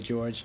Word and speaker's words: Jorge: Well, my name is Jorge, but it's pronounced Jorge, my last name, but just George.